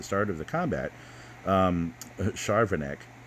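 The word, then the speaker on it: Charvanek: of the combat um charvinek and you know i i was mispronouncing her name in in the other videos i thought it was chavarnick but i mean charvin i just never really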